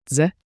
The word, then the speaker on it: Дзе: Say it slowly. Dze. A quick DZE, like J, with a soft D.